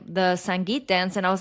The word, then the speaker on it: Sangeet: Yes, and I was pronouncing everything wrong. So I was like, oh, I'm going to be at the Sangeet, and then I need a lehenga. No, it's Sangeet and lehenga.